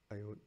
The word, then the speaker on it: Iron: Hein on ne prononce pas le R dans Iron. Iron.